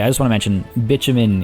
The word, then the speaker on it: bitumen: By the way, I just want to mention bitumen is the correct pronunciation of that word. It is not bitumen, which I used to think it was, but it is bitumen. I've seen a lot of comments about that. And it's like it. Unfortunately, I know how silly it sounds potentially, but that is how you say that word, bitumen.